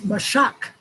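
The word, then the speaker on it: משך: word and it's four nine zero zero is mashak the shock is spelled m a s h a k m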